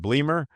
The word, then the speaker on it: Bleemer: Is it Bleamer? Yeah, that's right. That is the correct pronunciation.